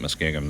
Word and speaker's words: Muskingum: of the Muskingum River locally they pronounce it muskegum they kind of skip the end it's m-u-s-k-i-n-g-u-m but that's to the